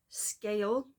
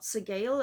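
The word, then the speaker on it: Sgaeyl: Apparently that is how you pronounce that, not Segale, as I don't know why I went with that. I think it's probably because of Welsh pronunciation, but it's pronounced Scale.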